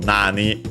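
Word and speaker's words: なに: What, how, even better what, but of course we can adapt it in the translation because literally it would be nan from nani, accented both on the first syllable.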